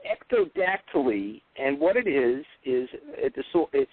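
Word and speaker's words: ectrodactyly: I got their confidence now how did you pronounce the uh the disorder itself again sorry it's called Ecto dactyly and what it is is a dis it's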